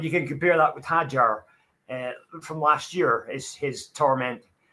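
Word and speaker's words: Hadjar: I think it's pronounced Isaac Hajar. Hajar.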